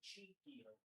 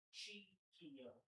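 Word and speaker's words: Czechia: Oh, and the mule said it's actually Cheekia. Say again? Cheekia is the pronunciation of this country. Cheekia. Not Chechnya? No, Cheekia.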